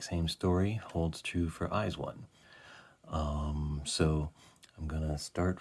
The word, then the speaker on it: IZ*ONE: zodiac um and uh eyes one is the pronunciation in english of the title um they their greeting